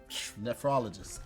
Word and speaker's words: nephrologist: Say it again. You added extra O in there. Nephrologist.